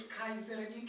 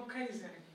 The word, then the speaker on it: Keyserlingk: Panie Mateuszu, przede wszystkim chciałam podziękować, że Pan pięknie wymówił nazwisko, nie Kayserling, jak często się słyszy, tylko Kayserling, bo to jest właściwa wymowa tego nazwiska.